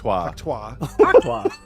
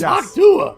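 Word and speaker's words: Hawk Tuah: the Haka girl sucks he said hak Haka Haka hwa I guess that's a French version of her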